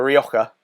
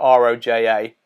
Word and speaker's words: Roja: I actually thought it was a Rioja, but because it's spelled R-O-J-A. But it's Carta Roja from Sainsbury's.